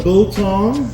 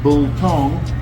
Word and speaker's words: biltong: So, so Bull Tong, if you have a look at the picture up here, it'll tell you how to pronounce it. Bull Tong.